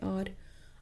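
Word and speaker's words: hour: आर, इसमें क्या है, एच साइलेंट है, एच को नहीं बोलना, तो हम साउंड के कौन से निकल रही है, आर।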